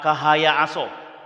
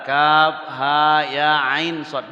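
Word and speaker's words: كهيعص: Ketika membaca awal surat Maryam, ketika membaca awal surat Maryam kahaya aso. Padahal kaf ha ya ain shad. Balik ke hijaiyah. Dibuka awal surat Al-A'raf.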